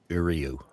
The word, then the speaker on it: Uriu: Okay, the pronunciation guide I looked up does indeed say Uriu. Okay. Ryu?